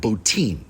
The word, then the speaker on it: Botín: beams great tile work the Spanish pronounce it boutin so I will as well for consistency's sake now the signature dish here at botin is roast suckling pig